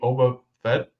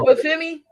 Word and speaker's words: Obafemi: But a wild card maybe Oba Fett. Did Who I is say it? did I say his name right? Shoot, NXT, the North American champion. Oh, Obafemi.